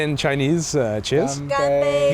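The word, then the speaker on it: 干杯: Ganbei. Ganbei.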